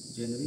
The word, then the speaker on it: genre: अभी हम लोग लास्ट में ई देखते हैं तो बड़े की मात्रा चढ़ा दिया हमने, जेनरी बन गया, लेकिन नहीं है, वो जॉन रा है।